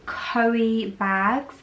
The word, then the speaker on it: Coeebags: of LV slides before, from a brand called Coeebags. I do believe that's how you pronounce the name.